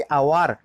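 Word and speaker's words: hour: silent हो जाता है जैसे कि आवार एच ओ र हम उसको कैसे प्रोनाउंस करते हैं आवर कहते हैं कोई हावर कहता है क्या ववर तो कोई नहीं कहता उसको हम आवर प्रोनंसिएशन करते हैं आवर आवर मतलब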